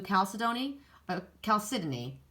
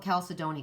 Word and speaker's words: chalcedony: I always say it wrong. I want to call it chalcedony because in Canada I think that's what they do. But here it's chalcedony, I think.